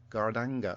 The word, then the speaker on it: gadanga: but how big is his gadanga? Pronounced Gardanga.